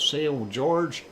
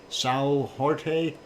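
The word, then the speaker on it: São Jorge: on the island of sail George or if you want to pronounce it in Portuguese Sao Jorge and there you go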